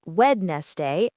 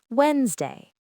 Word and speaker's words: Wednesday: Key number one, two syllables, not three. Forget wedest day, think Wednesday. Key number two, remember the ghost letters. The D and the first E are completely silent. They are invisible to your ears. And key number three, the S sound is voiced. It sounds like a Z because it follows the voiced N sound.